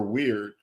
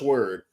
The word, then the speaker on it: Wyrd: Tre uh Oscar says is it pronounced word or weird it's pronounced word yeah or she says